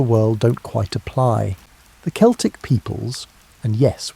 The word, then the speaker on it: Celtic: The Celtic peoples, and yes, we pronounce it Celtic when talking about these historical folks, not the basketball team pronunciation, occupied a vast swath